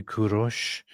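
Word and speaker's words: Kourosh: So, in Persian you say Kurosh, and Jews say Koresh, and Greeks Koresh?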